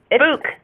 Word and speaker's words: Butch: Book, like boo with a cannon. It's like a Canadian asking for a book.